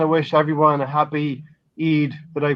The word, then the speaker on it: Eid: here we want to wish everyone a happy Eid but I pronounce that correctly yes you did we say